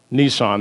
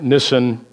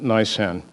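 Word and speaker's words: Nisan: renamed nissan or nysan it's not nissan that's a car but nissan some jews pronounce it nissan some pronounce it nice and so now when somebody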